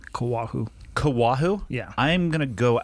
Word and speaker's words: Koahou: right how do you say your last name kawahu kawahu yeah i'm gonna go out on a